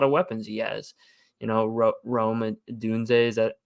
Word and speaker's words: Odunze: Rome Dunze, is that how you say his name? And Yeah, Rome Odunze.